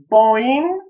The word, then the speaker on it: boing: Boing, boing. Буковка Г на конце, она никогда для красоты не читается. Мы ее как будто не видим.